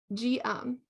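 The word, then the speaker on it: Geum: of them columnifera okay it's not gem G um G um triflora G um triflorum okay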